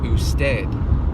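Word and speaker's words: usted: the last word or stead which is the formal way of saying you it's commonly pronounced like this who's dead well if you fix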